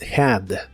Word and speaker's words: had: en el pasado es Had la H de esta palabra igual se pronuncia como una J suave lo cual es muy común en inglés Had Had y esta forma la